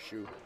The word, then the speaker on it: Hsu: Julie Ha's husband just filled me in on the right pronunciation of his first name is Shu. And now Shu ties it up 1-1. I told you the H was silent.